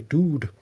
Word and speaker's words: dood: and calls some Prinnies, demon penguins who say dood. That's d o o d, not d u d e. Yeah, there's a very clear difference in pronunciation and I'm pretty sure they'll kill you if you say it the wrong way.